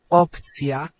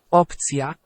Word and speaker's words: opcja: Opcja. Opcja.